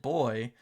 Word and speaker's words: Buoy: Is it Buoy or is it Buoy? Because I think the technically correct pronunciation would be like boy, almost like Flavor Flav, right? Boy, hey boy, yeah boy.